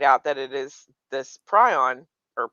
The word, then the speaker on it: prion: that it is this prion or prion. It's pronounced prion from the guy who made it, but some people call it prions. I've been corrected many times, so just choose whichever one you like.